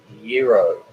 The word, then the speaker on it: gyro: A gyro, pronounced gyro, is a Greek sandwich consisting of spun bread and meat.